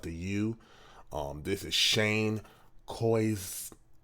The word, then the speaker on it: Koyczan: This is Shane Koyczan. I feel like the C is silent. Koyczan. Koyczan. That's what it is.